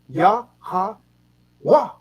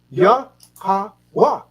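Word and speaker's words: Yahawah: Yah-ha-wah. Yah-ha-wah. The H is silent.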